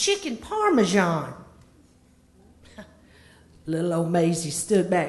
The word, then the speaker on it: parmesan: I got to tell you Mama You've Been pronouncing it wrong all these many years it's not parmesian chicken mama it's chicken parmesan little old Maisy stood back and cocked the